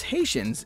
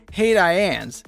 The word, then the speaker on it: Haitians: Alicia Silverstone actually didn't know how to pronounce Haitians in Clueless, but the writer thought it was so funny, she asked that no one correct her. You'll remember the scene when Cher said, "Hey Diane's," instead of Haitians in debate class.